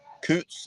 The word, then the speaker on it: Coutts: Is it Coutts? Is that how you pronounce it? Coutts? That's it's a Scottish name, but it's technically Coutts if you spell it, or pronounce it properly.